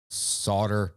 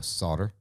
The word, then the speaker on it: solder: Are you pronouncing the L? No, solder. Okay. Solder. You're just kind of barely like, I'm just picking up a tiny bit of that silent L in there.